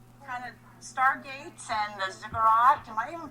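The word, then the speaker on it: ziggurat: talking about uh kind of Stargates and the zigurat am I even pronouncing that right yes you are righty then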